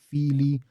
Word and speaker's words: Fili: The stress is a bit more on the first syllable in Neo-Khuzdul. You have Kili, Fili, because it's an extended I there, mimicking the original Old Norse yet again.